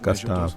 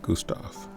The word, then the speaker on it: Gustave: so it's pronounced Gustave, not Gustave.